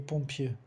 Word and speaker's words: pompier: O R de pompier não se pronuncia, le pompier.